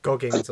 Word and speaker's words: Goggins: Like Goggins.